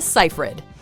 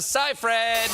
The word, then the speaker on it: Seyfried: forced to correct others most can agree that the last name has two syllables yet people often insert